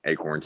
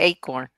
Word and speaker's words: acorn: one of two things how do you guys pronounce a corn you pronounce it a corn or I can't even say the other way it's a corn is it a corner Agron ate a corn I say eight corn so in that and